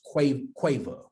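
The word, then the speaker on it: קוה: So the Hebrew word for wait is, I believe it's pronounced quava, Q-A-V-A-H, Q-A-V-A-H.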